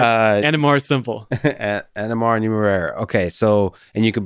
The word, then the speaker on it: Numeraire: say this is uh how do you pronounce it so this is the numerai uh cryptocurrency yeah nmr nmr what's you just say nmr it is it is technically called numero numero i like it